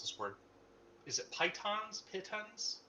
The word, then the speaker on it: pitons: Fuck me if I know how to pronounce this word. Is it pitons? Pitons?